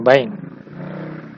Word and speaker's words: BIND: terkenal adalah yang namanya bin Bain ya kalau dibacanya bind Nah sekarang saya akan menjelaskan Bagaimana caranya instalasi